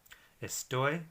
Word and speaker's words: estoy: part of the word estoy which is a word that ends in a y but for this but the stress is on the last part of the word it means at the